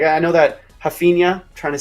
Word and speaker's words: Rafinha: Did I get it right? Rafinha? I'm seeing people in chat giving me props on that. I was trying to give the Brazilian pronunciation there.